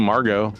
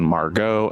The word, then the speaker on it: Margot: So the name Margot is the French diminutive of Marguerite, hence the pronunciation Margot and not Margot, which means pearl.